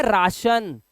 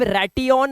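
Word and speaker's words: ration: जाएगा आ हो जाएगा जैसे यह हो गया राशन अब रटिन नहीं है ये रटी ऑन ये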